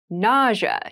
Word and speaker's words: nausea: I rash nausea nausea nausea is a very interesting word with an interesting spelling nausea is the pronunciation nausea refers to a